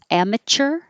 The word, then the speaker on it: amateur: you use the t it sounds like amateur orter or cure but basically tur amateur amateur the bread is bagel